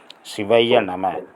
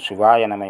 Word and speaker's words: சிவய நம: சிவாய நனம என்று உச்சரிக்க கூடாது. வா வந்தா நிடில் வந்துரும்.